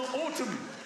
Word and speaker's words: autumn: why sometime in the autumn in the autum in the autum Autumn yeah so why is there an N at the end of autumn autum it probably